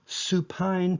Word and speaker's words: supine: back you're in the Supine position think of supine rhyming with spine if you're on your